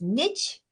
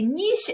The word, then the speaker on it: niche: So for my American friends, they sometimes pronounce it as niche. So niche, I say niche, but basically that's the same as niche.